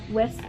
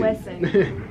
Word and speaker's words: Wesson: Wesson. West. Wesson. No T. Wesson.